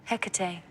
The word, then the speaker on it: Hecate: This little guy on top, how do you pronounce it? Hecate, demon of the night.